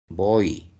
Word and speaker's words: voy: Por ejemplo, acá dice cui, la y está sonando como i. Lei está sonando como i, voy, como i.